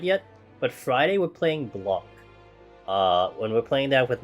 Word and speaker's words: Blanc: Let me type it in chat, because I think you pronounce it Blanc, but it's B-L-A-N-C.